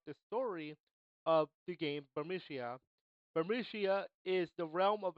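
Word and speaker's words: Burmecia: It's I say Bermicia, I hear Bermicia, and other pronunciations of that area. I will tell you this is Bermicia in the background.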